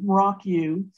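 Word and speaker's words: Mrauk U: had to get to um rock you so that's spelled m-r-a-u-k and then second word is just a u Rock U and where we the reason we were going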